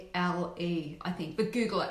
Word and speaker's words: Frankl: It's Viktor Frankl, and I think it's Viktor is spelled Viktor, I believe, and it's Frankle, I think.